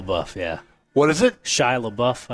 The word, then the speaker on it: Shia LaBeouf: Shia LaBeouf, I believe that's how you pronounce it. It's not Sheila LaBeouf?